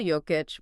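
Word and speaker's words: Jokić: Nicola Joic, for anyone unsure, that's pronounced Nicola Joic was masterful.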